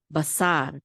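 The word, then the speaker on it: בָּשָׂר: out the syllable, and the accent is on the syllable, so this is sa. Basar.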